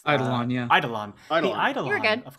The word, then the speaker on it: Eidolon: I might be mispronouncing that. It's Eidolon, yeah.